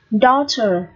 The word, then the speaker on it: daughter: Daughter. Daughter. Cái chữ AU này được phát âm là âm O dài.